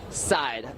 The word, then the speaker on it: Seid: he only said yeah side we was talking about how to pronounce his last name right so is Jeff Jeff side side okay now with that out